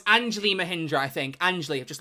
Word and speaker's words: Anjali Mahindra: It's Anjali Mahindra, I think.